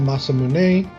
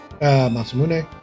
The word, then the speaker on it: Masamune: Some people call it the Masamune, which I think is natural. Other people call it the Masamune, which is the proper pronunciation, the E, Masamune. Other people call it the Masamune for some reason.